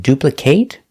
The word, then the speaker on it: duplicate: If it's a verb. If it's not a verb, we pronounce it with the short sound duplicate.